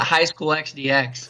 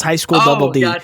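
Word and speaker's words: High School DxD: pronounce that you pronounce you don't pronounce the X so it's High School Double D just like how like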